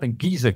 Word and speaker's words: Gizeh: D'abord, il faut dire Gizeh, parce qu'on prononce comme ceci le G en égyptien ancien également, ou même en grec, etc.